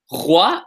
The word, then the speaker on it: roi: a couple reasons because this is a r versus the r. So it's not roi, but roi, right? Roi, regarder. I'm exaggerating so you can hear it, right?